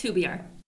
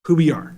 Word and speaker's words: Hubar: And, I didn't didn't say your last name because I'm not sure how to pronounce it. It's Hubar. Hubar.